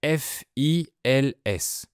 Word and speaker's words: fils: Si vous lisez les lettres F, I, L, S, comment vous prononcez le mot? Fils ou fil au pluriel? Eh bien, les deux sont corrects parce que ce sont deux mots différents, mais ils ont la même écriture.